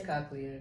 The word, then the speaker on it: cochlear: I think it's cochlear.